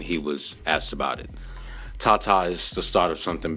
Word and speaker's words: TaTa: He signed his first AI-generated artist, and I believe the way you pronounce his name is Tata, right? It's Tata.